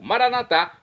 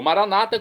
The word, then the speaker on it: Maranata: E agora eu clamo do dialeto de Jesus, o aramaico, Maranatá, como dizemos nós católicos, ou Maranata, como dizem nossos irmãos separados, os evangélicos ou protestantes. Não importa a pronúncia, o significado é o mesmo.